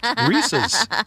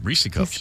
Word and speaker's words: Reese's: Reese's.